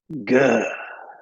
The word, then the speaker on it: Guh: And all they keep mentioning is Guh. Like a hard G.